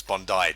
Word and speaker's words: Bondi: Okay, that's Bondi, Jamie. Yeah, I just imagine it should have AI at the end. No, because it's just the way the Aussies pronounce it.